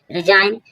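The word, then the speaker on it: resign: रिजाइन रिजाइन means त्याग देना। रिजाइन रिजाइन means त्याग देना। आर एस आई जी एन। हमने देखा जी के बाद एन होगा तब जी साइलेंट होगा।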